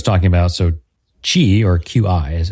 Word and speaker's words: Qi: Now, what Mike was talking about, so Qi or QI as it's spelled, and we pronounce it Qi, is had some evolution over the years.